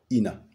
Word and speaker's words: Ina: obtenons encore la transitération in qui se lit toujours Ina Ina est donc la prononciation correcte du nom de ce monarque Ina est un nom